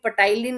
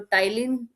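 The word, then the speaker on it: ptyalin: अच्छा इसको कोई भी पटाइलीन नहीं पड़ेगा क्योंकि इसमें पी साइलेंट होता है। तो टाइलीन एक एंजाइम रहता है और इम्यूनोग्लोबिन ए पाया जाता है।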